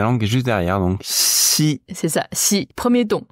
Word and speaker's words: 西: trou vraiment bien trouvé donc ce caractère se prononce si si XI pas facile à prononcer bah c'est surtout ne disent pas XI he donc c'est si comment tu arri à dire si c'est entre le SE et les chux en fait pour moi